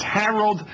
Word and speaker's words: Harold: Harold, not Howard.